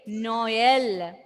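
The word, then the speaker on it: Noël: Can you pronounce the word Noel without that trema? Noel without a trema. Nol. Nol. Nol. Nol. Okay, Dako? Okay, Dako. Without, when we pronounce those two together separately, Noel.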